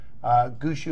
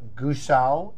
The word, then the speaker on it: Gushou: in the last segment gusu means drummer in Chinese there's different variations on how you pronunciate it goose ow and I'm probably not doing it justice there but it does